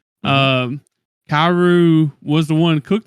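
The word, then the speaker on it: Kaoru: Kairu, is that her name? Kairu. Yeah, that's how you say it. Mhm. Kairu was the one who cooked the fish, and apparently she's not a good cooker.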